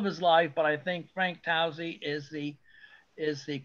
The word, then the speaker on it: Tousey: may know this, that Eddie LeBlanc insisted on pronouncing Frank Towsey's name as Frank Tuzzi. He said Frank Tuzzi as long as I knew him, and Randy Cox does the same thing, but I think that Towsey is correct.